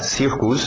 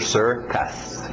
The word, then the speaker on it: circus: termos da pronúncia então cuidado para não falar circos é sir sir aquele velho som de ER water Sister Circus Circus corn popcorn milho corn